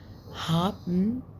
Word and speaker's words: haben: haben، بصوا هي هابن الاتش في الالماني اسمها ها، بنطق ها والاي بنطق فتبقى ها بن بي اي ان بن. بس الالمان بياكلوا الاي ان دي، تحسها مكتومه كده، تبقى هابن تحس بيعملوا سكته. هابن haben تحس كتموا البي.